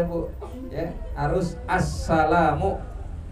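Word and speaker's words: السَّلَامُ: bacanya lengkapam enggak bisa Asalamualaikum enggak bisa bu ya harus Assalamu Alif lamnya harus dibaca tuh assalamualaikum enggak cukup kadang Salamualaikum Asalamualaikum enggak bisa harus Assalamu ya enggak bisa asamualaikum Waalaikumsalam ya kalau dibalik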